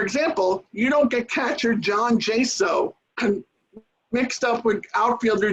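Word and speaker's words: Chone: puts not putts and it's john figgins not shown figgins three the etymology and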